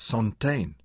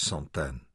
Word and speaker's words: Santaine: "This is Santaine." He pronounced it in the English way. "Her mother," Anna touched the other. "This is Santaine." She corrected his pronunciation.